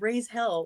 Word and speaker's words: Reyzhell: I thought it was raise hell. Like, it's not? It is, but it's REYZHELL. R-E.